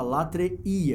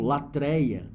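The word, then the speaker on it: latreia: se conforme hebreus 99 é bom lembrar que os irmãos pronuncio dessa forma correta a palavra lattre e é o assunto vai no wii geralmente eu ouço alunos até de teologia em outros lugares usando o termo latreille o assunto não está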